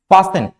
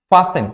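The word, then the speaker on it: fasten: फास्टन, फास्टन, यहां पे भी टी क्या होता है, साइलेंट होता है।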